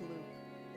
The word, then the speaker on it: Lupe: And apparently, according to the Neopets wiki that I'm now learning, it actually is pronounced loop. So I think he was just assuming it was like, what's wolf in Spanish? I think he was thinking it was that.